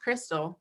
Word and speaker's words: Kyristal: And as y'all can see, my name is spelled Kyristal, like Kyristal, but it's pronounced Crystal.